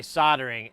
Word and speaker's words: soldering: So, I just say soldering and the L is silent, you know.